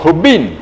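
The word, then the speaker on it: Hven: se llama la isla se escribe hv e e n se produce como Rubín y se hace esta H Así es una J que ustedes con seguridad no me la están escuchando voy a ponerlo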